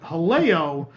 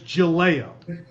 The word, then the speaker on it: Jaleo: on this show is we pronounced the upcoming Disney springs restaurant Jaleo as July oh and people decided that